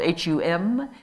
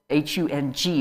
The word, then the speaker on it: hung: You sometimes see it spelled H-U-M. The Tibetan way is often it's spelled H-U-N-G, because the sound is hung, like that, not hum. It's hung.